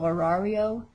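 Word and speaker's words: horario: another two r's and with a silent h so we don't even hear it again if you say el orario that's the montana way you say it table la mesa la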